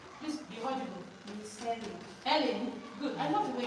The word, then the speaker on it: Helen: Helen. Good. I love the way you pronounce it. Helen. Do you know somebody say Ellen? Are you not Helen? You are Helen. Don't say Ellen.